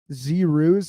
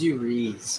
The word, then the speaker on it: Zuriz: I think this is Z Ruse. Am I pronouncing it right? It's Zuriz, man.